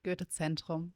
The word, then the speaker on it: Goethe-Zentrum: I'm the intern at GZK, and you pronounce it Goethe-Zentrum, actually.